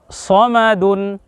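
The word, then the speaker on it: صمدٌ: বলুন স মা দুন দ এর রসু যোগ ন দুন উচ্চারণ হবে স মা দুন প্রিয় দর্শক এরপরে দেখুন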